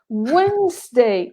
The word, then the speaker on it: Wednesday: all these letters together wednesday no no d wednesday wednesday today is wednesday this